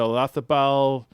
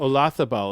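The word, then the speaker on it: Olazábal: Ian Wisnam, Jose Maria Olazabal. Is that how you say it in Europe? Olazabal. It's not with a Z. Not Olazabal? No, it's Olazabal. Oh, interesting. That's how they pronounce it, a Spanish thing.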